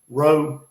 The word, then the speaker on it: Rao: Up here in North Carolina, they say Rowe or Rao. They say Rao up here in North Carolina. I think it's Rowe down there in South Carolina.